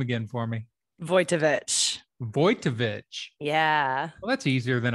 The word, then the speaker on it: Wojtowecz: say your last name again for me voitovich voitovich well that's easier than i thought yeah